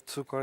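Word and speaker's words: Cukor: de emigrantes húngaros pero el apellido tcor es eslovaco y como yo he vivido en Eslovaquia pues lo voy a pronunciar como se pronuncia ahí no tcor significa azúcar y Bueno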